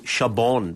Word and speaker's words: Chabon: I only finished it this week too, Michael Chabon. But you're saying you don't pronounce the N.